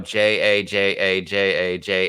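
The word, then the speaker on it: jaja: that I realized, oh, J-A-J-A-J-A-J-A, that's ha ha ha ha ha. Like instead of H-A, because J is pronounced like an H in Spanish.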